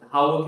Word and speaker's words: Hawick: And for the record, Howick is spelled Hawick.